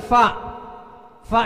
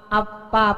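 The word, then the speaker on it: ف: Kemudian fa ini banyak juga yang mengucapkannya karena kurang angin sehingga mirip P, ya kan? Fawailul lil musallin, upil lakuma ataidan ini, ya kan? Masa upil? Karena kurang angin sehingga bacanya seperti P, mestinya fa fi fu.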